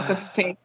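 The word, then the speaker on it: Kafei: ] depressing especially like watching um Andre and cfel just like or Cel Cafe I always say cfel because it it was originally supposed to be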